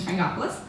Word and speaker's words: Frangopoulos: That's Metropolis, rhymes with Miss Frangopoulos.